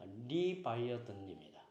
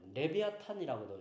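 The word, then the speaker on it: Leviathan: 이 리워 야단이라는 영어 발음은 리바이어든입니다. 또 레비아탄이라고도 이제 읽기도 하고요.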